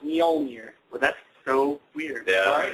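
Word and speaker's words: Mjölnir: The J is pronounced Mjolnir.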